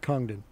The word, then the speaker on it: Congdon: if you don't mind pronouncing your name again. Hi, Angelo. My name is Congdon.